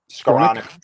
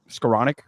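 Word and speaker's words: Skowronek: Uh Ben's uh scor how do you pronounce his name again? Scoranic. Scoranic.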